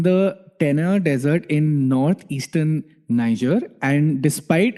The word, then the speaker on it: Niger: This one is it's from Africa and the place is called I think Niger or Niger. Niger. That's how you pronounce it.